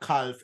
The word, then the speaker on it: calf: It's not calf. It's calf. You should not pronounce L.